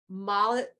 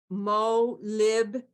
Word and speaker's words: molybdenum: And it's in barley, and it is, again, I'm going to slaughter the way you pronounce this, so excuse me, molybdenum, MOLYBDENUM, and that's a trace mineral that's in barley that, again, helps cleanse deadly toxins out of your system.